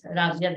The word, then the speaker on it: Razia: Let's give a warm welcome to Rabia. Okay, so Chat GPT is pronouncing my name wrong. It's Razia, not Rabia.